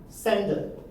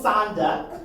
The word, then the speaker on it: sender: Sender. Sender. Pay attention here. Sender. Not sander.